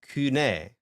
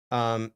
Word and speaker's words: Koine: There's a buffet of options, and there are people who will say kune, Hmm. kune, because they are targeting a phase of the development of the pronunciation where the diphthong oi became u, where it's basically e, like it basically became indistinguishable from upsilon or epsilon, right? Okay. So basically you can say koine, you can say kune,